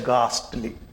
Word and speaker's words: ghastly: हम लोग जब हिंदी से अंग्रेजी में किसी का प्रोनाउंसिएशन सीखते हैं तो हमको ऐसा सिखा दिया जाता है कि हिंदी का जो एक शब्द है घ से घड़ी जिसे कहते हैं, तो इसके लिए जनरली GH लिखा जाता है।